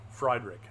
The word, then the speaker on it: Friedrich: little curl route inside how do you say that name is that friedrich friedrich um friedrich fried rick yeah like fries in a drink and a drink process